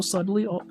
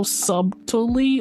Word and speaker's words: subtly: I have a problem where so I do things so subtly. So subtally all the time. Am I saying that right? Sub subtly. Subtly. Subtly. That's how you say it. You don't say the B.